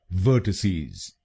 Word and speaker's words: vertices: पहला शब्दांश है VER, दूसरा शब्दांश है TI और आखिरी शब्दांश है CES। पहले शब्दांश को यानी VER हम बोलेंगे व। दूसरे शब्दांश को यानी TI हम बोलेंगे ट। गलत प्रोनाउंसिएशन में हम इस शब्दांश को बोलते हैं टाई। इसकी सही प्रोनाउंसिएशन है ट। और आखिरी शब्दांश को यानी CES हम बोलेंगे सीज। तो बनेगा वर्टिसीज। वर्टिसीज। वर्टिसीज।